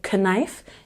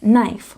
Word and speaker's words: knife: K words but again the K is silent you don't say k knife you say knife with the long I sound and this one don't